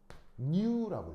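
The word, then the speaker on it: ν: 그래서 어떻게 읽냐면 얘는 읽을 때 new라고 읽어요. new. 그리스 알파벳입니다.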